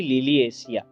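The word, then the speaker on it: Liliaceae: आज के लेक्चर में आप सबका स्वागत है और आज का हमारा टॉपिक है फैमिली लिलिएसिया। लिलिएसी भी कई लोग प्रोनाउंस करते हैं।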